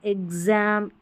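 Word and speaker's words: exam: लेकिन कुछ स्पेलिंग्स में, कई शब्दों में शुरुआत में एक्स को आधा ग और ज पढ़ा जाता है। जैसे यहाँ पर देखिए एग्ज़ाम, यहाँ पर है एग्जैक्ट और ये है एग्जिस्ट, ठीक है, इस तरीके से।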